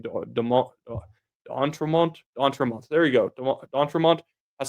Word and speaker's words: D'Entremont: already forgotten how to say his last name, D'Entremont.